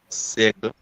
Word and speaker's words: siècle: Au 19e siècle. Okay, so it was in fact au 19e. So Garnet, you managed that, the au 19e, okay? But it's siècle for the pronunciation, okay?